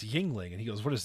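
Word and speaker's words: Yuengling: I mean, we're talking about a man who pronounced Yingling Brewery Yang Long.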